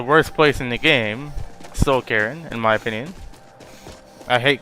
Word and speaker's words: Soul Cairn: They almost sound exactly alike. Like caring, I'm saying Soul Caring. Like I'm carrying a phone when it's supposed to be Soul Cairn.